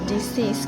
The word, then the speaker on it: disease: Note the stress of the second syllable of disease completely contrasting with the first line's increase.